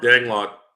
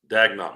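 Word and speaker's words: Daigneault: Is Mark Danglot? Is it Danglot? I can never pronounce his name. He said he's going to get an OKC Speedo. Reggae Joe said. They make those. How do you say his last name? Whose? Dagnall. Mark Dagnall.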